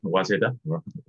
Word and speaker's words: Waseda: I'm not sure I pronounce it correctly. Waseda. Waseda. Yeah.